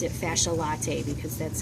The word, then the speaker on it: fasciae latae: late ela ta be all right you can pronounce it fasciae latae because that's how most people remember this fascial